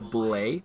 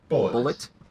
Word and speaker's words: Bulleit: to me was called, it's spelled Bulleit. I want to say it's pronounced Bullet. Bullet. Yeah. Okay. It's the French part of me wants to say Bullet, but I wasn't sure to pronounce that.